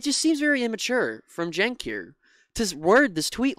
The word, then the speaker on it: Cenk: garbage um and uh shank responded uh shank I I pronounced his name wrong a lot that's just something on me um please correct me in the comments every time I do uh jenk said Emma I see